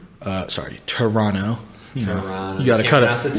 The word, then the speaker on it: Toronto: Then they have like in Toronto. Toronto. Toronto. You gotta cut it. The T. Can't pronounce that second T.